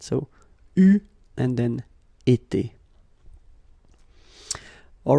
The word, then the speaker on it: eu: It will become EU, so you will have to write this participe passé form like that. Okay, but you will have to pronounce it U. So remember, main difference or big difference between what you write and what you pronounce. So you write it like that, EU, but then you pronounce it U.